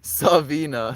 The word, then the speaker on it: Savina: Is that how you pronounce? No R in the name.